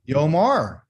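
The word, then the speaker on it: יאמר: do you say this it's a yo which is y got a dot o what is it you omar yomar yomar that means tell me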